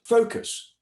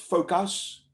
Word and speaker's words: focus: You will have people, there's a tendency to say focus because of the US, which is normally pronounced us. So it's understandable, but the word is not pronounced focus, it's pronounced focus, neutral vowel, us, cupboard, determine, All those